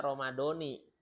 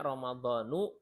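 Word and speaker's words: رمضان: ulangi ya syahr Ramadana Ramadan bahasa Arabnya enggak ada I enggak ada Ramadoni adanya ramadanu atau Ramadana ya itu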